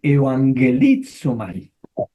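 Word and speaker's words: εὐαγγελίζομαι: Les recuerdo que cuando tenemos doble gama se pronuncia como NG, como NG. ángulo. Por eso dije evangelizomai.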